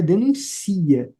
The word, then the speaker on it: denuncia: Aqui é denuncia. Eu denuncio, tu denuncias e denuncia. No denuncia, a sílaba tônica é o si.